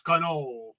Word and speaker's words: cannoli: You're not supposed to pronounce the I. It's cannoli. Where are you coming from, Alfred?